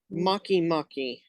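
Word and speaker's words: Makemake: on my list oh yeah it's really pretty makimaki it's spelled like the English word make twice in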